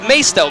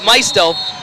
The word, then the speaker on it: Maisto: game and save maisto it's maisto by the way i've been pronouncing it maesto pronouncing it maestro at first i thought it was maestro he's like a maestro